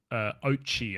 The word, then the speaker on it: Oatchi: this little dog called Oatchi, I think is that how you say it? Oatchi.